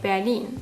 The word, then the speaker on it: Berlin: Because in German we say Berlin. So in Japanese, if we went by sound, something like Bearin would be way more accurate than the way it is actually written, Berurin.